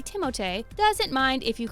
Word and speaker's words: Timothée: Timothée Chalamet. Hey, what's up guys? My name is Timothée Chalamet. Timothy, or as the French say, Timothée, doesn't mind if you call him Doug or Alex.